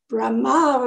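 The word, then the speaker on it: Brahmā: Brahma is the accent on the last A, on the other hand,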